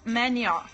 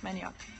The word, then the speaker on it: manioc: Manioc. That's how you say it. Manioc.